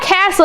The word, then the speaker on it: castle: So if we sound out castle, it's going to be k-ass-ool. So you don't hear the T in that word, and the EL is pronounced ool, castle.